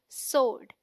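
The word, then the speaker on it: sword: मतलब होता है तलवार डी रंग प्रनंसीएशन इस पीपल प्रोनाउंस डी वो साउंड विच इसे नोट देवर जो वहां है ही नहीं विच डी उस silence so आईटी साउंड like सोड और लोड सो डी राइट प्रनंसीएशन इस सोड से आईटी अगेन सोर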